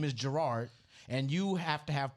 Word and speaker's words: Jarard: r a r d if you sound that out it says Gerard it doesn't say Jared it says J people don't